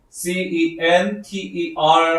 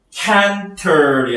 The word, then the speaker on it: center: 뭐 비근한 예로 C-E-N-T-E-R 하면은 canter이 아니라 center 이렇게 되죠.